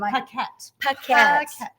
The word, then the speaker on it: Paquette: Paquette. Paquette. P-A-Q-U-E-T-T-E. See, I can spell it, but I was afraid to pronounce it.